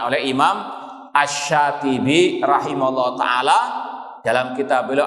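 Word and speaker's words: الشاطبي: Imam Asy-Syatibi, jangan keliru ya, nanti dikira Imam Asy-Syafi'i. Imam Asy-Syatibi.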